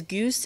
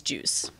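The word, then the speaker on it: Beetlegeuse: It's spelled with a G-U-I-S-E. Yeah, it's either spelled Gius or Juice. Or, yeah, like they always. It's a weird. He is Goose, and the movie is Juice.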